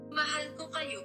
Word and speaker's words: Mahal ko kayo: We hope we didn't butcher it, but this is how it's supposed to sound. Mahal ko kayo, Kate.